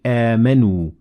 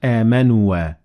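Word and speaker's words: آمَنُوا: It looks like a circle, and it means that the alif is not pronounced. So we say amanu, not amanua.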